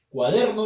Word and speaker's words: cuaderno: No lleva tilde cuaderno porque la fuerza de voz está en der.